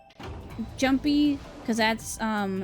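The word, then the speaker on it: Junpei: forward actually also I learned apparently it is pronounced jumpy cuz that's um how what a con's voice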